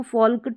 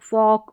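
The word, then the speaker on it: folk: Number 17 में है शब्द के अंत में ये एल एम एल के एल एफ एल डी हो तो एल का उच्चारण कई बार नहीं होता कई बार नहीं होता मतलब मैक्सिमम ठीक है जैसे इसको काल्फ हल्फ योल्क फोल्क टोल्क नहीं पढ़ेंगे यहां पर इन सभी स्पेलिंग में जो है एल साइलेंट है जैसे जैसे काफ, हाफ, योक, फोक और टॉक। इस तरीके से इनका उच्चारण आप करेंगे।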